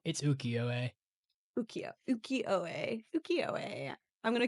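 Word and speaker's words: ukiyo: to get better but I think it's called ikio the very famous one called the dream of the fisherman's wife it's ukio UK uko UK I'm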